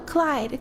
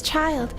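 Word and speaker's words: Childe: She It's child. Oh, it is child. Okay. I was I was not sure. So, it is pronounced child.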